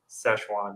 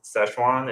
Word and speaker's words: Sichuan: than from someone say or sichuan if this is fine as how we say it in chinese szechuan is how americans say it and then we have